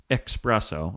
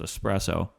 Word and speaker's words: espresso: you know these jordi expresso of course there's no x in espresso right so it's espresso all intensive purposes they